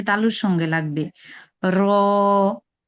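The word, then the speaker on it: ر: র, র, র, র, রর উচ্চারণ হবে, মানে ওই যে বলছিলাম আপনাদেরকে, জিহ্বার আগার পিঠ, জিহ্বার আগা দিয়ে উচ্চারণ করবেন না, জিহ্বার আগার পিঠ হবে, জিহ্বাটা একটু উল্টিয়ে উচ্চারণটা হবে, হ্যাঁ, জিহ্বার আগার পিঠ উপরে তালুর সঙ্গে লাগবে।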